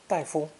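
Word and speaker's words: 大夫: for a medical doctor daifu daifu as with tai tai tai fu may be spoken with a neutral tone for the second syllable since they're very common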